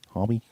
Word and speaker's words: Homme: But so this band is John Garcia, vocals, Josh Homme. Is that how you say it? I always pronounce the name wrong. Yeah. Homme, guitar.